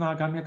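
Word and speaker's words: आगामी: Aghamya karma, there are two long vowels there, right?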